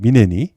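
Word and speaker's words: München: 여기 우리는 보통 미넨이라고 부르죠. 근데 이게 이제 또 영어식으로 막 발음하면은 뮤닉 이렇게도 발음이 됩니다. 이 미넨이.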